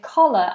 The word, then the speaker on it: collar: Could you please tell me if collar and colour have the same pronunciation? No. Collar. Collar. Colour. Colour. Co-car. Co-car. I know they sound very similar. Collar as in cot or ah as in on.